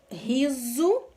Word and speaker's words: riso: Riso, esse S aqui faz o som de Z.